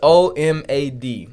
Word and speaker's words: OMAD: diet old man died no it's omad so one meal a day so okay pronounce